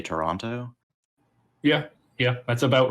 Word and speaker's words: Toronto: Yeah, it's pronounced Toronto with like a CHURRNO, something like that, Toronto.